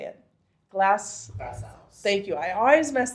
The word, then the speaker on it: GlassOuse: Glass house. Thank you. I always mess that up. Glass house.